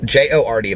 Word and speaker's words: Jord: of my first sponsorships it's a joe'd watch but it's it's j-o-rd but it's pronounced jord let me just tell you